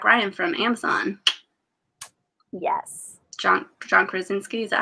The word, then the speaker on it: Krasinski: John Krasinski, is that how you say his name? John Krasinski, yep.